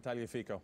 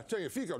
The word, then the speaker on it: Tagliafico: your favorite player, the left fullback from Ajax, pronounce his name. What's his name? Tagliafico. Yeah, Tagliafico.